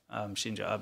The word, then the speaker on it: Shinzo Abe: So in celebration of the murder of Shinzo Abe is the correct way to say it.